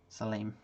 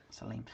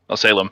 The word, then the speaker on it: Salem: Salim. Yeah. I forget that that's not necessarily a natural pronunciation for other people, but yeah. That's how that name is pronounced. Salim.